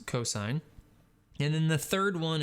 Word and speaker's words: cos: abbreviation is cos and it's still pronounced cosine even though it looks like cos it's not cos it's cosine and then the third